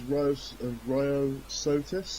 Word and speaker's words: Ryosotis: That was Ryosotis.